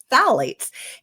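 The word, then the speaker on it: phthalates: Another important hormone disruptor in plastics is called phalates, which is spelled with a silent P, so don't ask me to spell it right now, but phalates.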